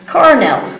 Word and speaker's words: colonel: You don't pronounce it like L, you pronounce it like R. So it's colonel.